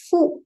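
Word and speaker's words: ふ: who it is who but mainly it is pronounced as fu fu Fu so who and also put a slash and you can write Fu right most of the sounds right we will be using a Fu sound for this particular letter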